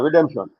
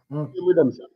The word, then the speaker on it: REDEMSION: So basically with the night is is the pronunciation still redemption or redemption? No man. Redemption. Okay. Redemption.